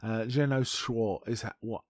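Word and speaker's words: Jeannot Szwarc: And I finally looked up how to pronounce his name because I was never that sure. Jenna Schwartz is how I understand it said.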